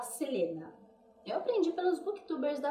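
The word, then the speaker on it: Celaena: Porque aqui fala Selaena, é escrita, só que a gente fala Selena.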